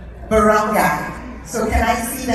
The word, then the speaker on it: Barangay: I want to applaud you this morning, the leaders of the village Can I get the pronunciation? Barangay.